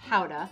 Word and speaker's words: Gouda: from the town of gouda which is actually pronounced hauda young gouda tends to